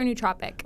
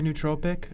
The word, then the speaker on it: nootropic: How do you say it, nootropic or nootropic? Well, tomato, just kind of depends. I've heard both ways. I usually say nootropic.